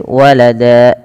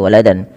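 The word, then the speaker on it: وَلَدًا: Maka walada, cara membacanya menjadi walada, bukan lagi waladan.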